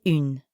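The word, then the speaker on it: une: as in in pizza start by saying in like the final sound in the english word seen but then round your lips forward like you're blowing a kiss so in becomes let's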